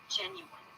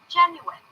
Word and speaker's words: genuine: through the attic and then it's the word you that's the middle syllable but it sounds like the word you gen you genu and then finally in the last syllable we have a reduced vowel uh that's right a